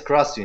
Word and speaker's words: Krasi: Krasi, yes, Krasi.